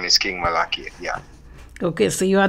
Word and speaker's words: Malakiyah: I say Malakiah, but you pronounce it differently. Malaki.